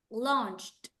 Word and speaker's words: launched: to this one launched launched uh the first the first one first launch launched because it has the CH sound it's launch yes watched watched same